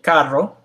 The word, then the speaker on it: carro: So when you have a double R, or the R is in front of the word, it's pronounced with the R that most people associate with Spanish, the R.